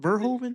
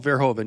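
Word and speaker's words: Verhoeven: Paul Ver, Is that how you pronounce it? Verhovven. I think it's Paul Verhovven.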